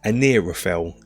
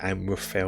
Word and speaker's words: Anirafel: It's Anirafel is his character's name, and I think I was calling it Amrafel or something like that.